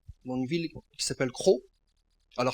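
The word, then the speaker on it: Croth: Dans un petit village en Normandie, dans une ville qui s'appelle Crau. Alors ça s'écrit C-R-O-T-H, les gens disent crotte, mais c'est Crau en fait, c'est Crau. Et en anglais c'est Croft.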